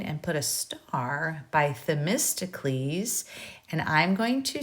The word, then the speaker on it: Themistocles: The Athenian politician Themistocles, and again, I'm just giving you a way to pronounce that, Themistocles, had foreseen trouble many